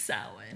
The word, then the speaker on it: Samhain: She was reading it and she's like, and Samhain. And I'm like, that's no. And Samhain. she's like, even I know that it's Samhain.